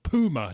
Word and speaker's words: puma: Yeah, where they call them, and they call them puma, don't they? As if it's spelt P-O-O-M-A.